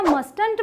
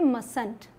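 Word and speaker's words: mustn't: हैवान बन गया लेकिन मस्ट नॉट को जोड़ेंगे तो क्या मस्त इंच बनेगा भी नहीं यहां पर टीम साइलेंट होगा और हम बोलेंगे मस्त है इसके अलावा एक और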